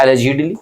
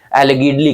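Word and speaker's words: allegedly: Synonyms पहला जो यहाँ पे आपको दिख रहा है एलिजिडली, बहुत इंपॉर्टेंट है, प्रोनाउंसिएशन याद रखिएगा, अक्सर बच्चे गलत कर देते हैं, एलिगिडली कह देते हैं।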